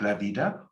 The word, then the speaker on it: vida: The V can be pronounced as a V, like la vida, or a soft B. It's no problem, la vida.